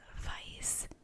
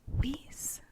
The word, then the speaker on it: Weisz: It's actually pronounced Weisz, not Weisz.